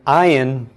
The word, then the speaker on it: ayin: Most dialects and most people simply pronounce the ayin just like an aleph.